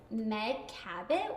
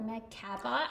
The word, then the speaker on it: Meg Cabot: But her name is Meg Cabot or Meg Cabot. I think that's how you pronounce it.